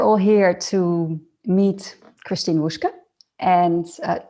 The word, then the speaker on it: Wushke: here to meet christine wushka and am i actually pronouncing your surname right um i i that is correct also yeah no it's